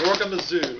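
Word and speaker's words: Zorgamazoo: And to my immediate left is Robert Paul Weston, author of Gorgamazoo. Is that how you pronounce it?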